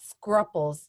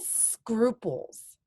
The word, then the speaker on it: scruples: you think it's not scruffles the U is pronounced like new what do you think Vicente not quite kiddo but good try the word of scruples okay now your scruples